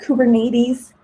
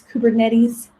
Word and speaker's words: Kubernetes: It's not Kubernetes. It's Kubernetes. I see people pronounce it weird a lot.